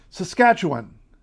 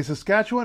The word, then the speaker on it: Saskatchewan: how to say that Saskatchewan you can say Saskatchewan or you can say Saskatchewan if you say it any other way I can't help you sorry everybody loves the